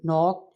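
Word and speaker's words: knock: नो में के, हु में डब्ल्यू, नॉक एट the door, नॉक में अगेन के आ गया है, तो ये साइलेंट है।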